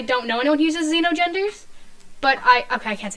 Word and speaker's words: xenogender: Is that xenogender? Is that how that's pronounced? See no gender, hear no gender. Xeno. Oh, like it's I would like a assume it's- xenophobe. I would think Xeno. Can you look it up for me really quick? You have to spell it for me. XENO and then gender. I got it. Yeah, xenogender. Yeah. Definitely xenogender.